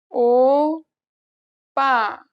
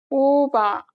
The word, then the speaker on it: 오빠: 오빠 오빠 If you accidentally say this letter as the unaspirated version, the meaning will change. 오바 오바 The first word means older brother, and the one without the tense means over.